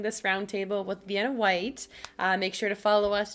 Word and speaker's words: Whyte: vienna white on instagram vienna like the city white spelled with a y cuz we're trendy now